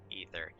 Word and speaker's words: Aether: more ether they require now ether aether i think it's pronounced ether specifically in 14.